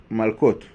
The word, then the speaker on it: malkot: young people so the it is called malkot or Marcos in the Ashkenazi pronunciation what does it mean